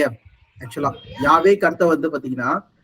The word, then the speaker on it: Yahweh: ஆக்சுவலா யாவேக்கு அர்த்தம் வந்து பாத்தீங்கன்னா ஐ ஆம் வாட் ஐ ஆம், இருக்கிறவராகவே இருக்கிறவர்.